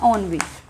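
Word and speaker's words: ennui: ठीक है, नेक्स्ट है हमारा ऑनवी। देखो एनओए लग रहा है हमें दिखने में, लेकिन इसकी प्रोनाउंसिएशन है ऑनवी, इसकी प्रोनाउंसिएशन है ऑनवी, ठीक है, ANNUE।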